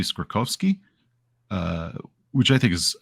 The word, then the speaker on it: Skorkowsky: which is like oh my great grandfather pronounced it this way so it goes back a while but because I think it should be skorkovski uh which I think